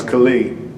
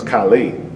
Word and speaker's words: Khalid: You gotta think, my name is Khalid. The most common mispronunciation of my name is Khalid. So people are like, yo, Khalid, what's up? Mm-hmm. But I've been called Khalil, Kaylee, Kylie.